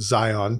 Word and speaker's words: Zion: You pronounce the O as a short O. I do the, what's that called? The schwa. The schwa, yeah, I do a schwa.